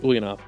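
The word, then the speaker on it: Ulyanov: ulanov uh last week I love to correct myself I said something horribly wrong but this time I'm saying it right Vladimir ilich ulanov uh otherwise known more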